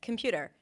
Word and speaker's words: computer: And he was like, yeah, there is O in computer. No, it's a schwa. It's like, no, I can hear, say it. And I said, computer. You said computer.